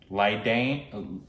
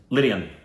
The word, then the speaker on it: Lydian: Leane. Say his name. Lydian.